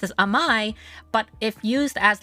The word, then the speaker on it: Amai: as my last name uh which what we pronounced as amai but if used as like this particular term